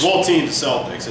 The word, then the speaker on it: Celtics: yeah, I mean, I hate the Celtics. Well, team the Celtics. It's Being an Irishman, it's Celtics. So get it right, Boston, not Celtics.